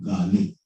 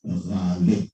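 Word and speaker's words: غالب: देखिए, गालिब, it is not गालिब, it is not Ghalib, it is गालिब. It's a guttural sound.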